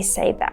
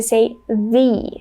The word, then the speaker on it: the: So when the article the is followed by a vowel sound, we pronounce it as E. So we say the.